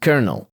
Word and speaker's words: colonel: For example, the word colonel is pronounced colonel, C-O-L-O-N-E-L.